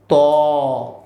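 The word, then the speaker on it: ط: বর্ণ এখানে হচ্ছে তফ তা হচ্ছে আমরা মুখ ছেড়ে দিয়ে বলি তা আর ত হচ্ছে আমাদের এই যে মুখকে ঠোঁটকা একটু গোল করে আমরা বলবো ত ঠোঁটকা একটু গোল করে ত কেমন এরপর হচ্ছে সেইম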